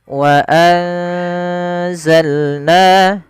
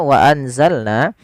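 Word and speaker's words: وأنزلنا: Kalau pada dasarnya kita membaca wa anzalna, karena dia bacaan ikhfa, ikhfa itu membaca di antara idgham atau izhar dan idgham. Kalau izhar itu berarti suara n-nya apa suara nun-nya jelas, wa anzalna. Itu izhar. Kalau idgham maka dia hilang, misalkan ayu, awalnya an yu. Nah, sedangkan ikhfa itu membaca di antara keduanya, yaitu dia menyamarkan saja, menyamarkan suaranya kepada huruf zai.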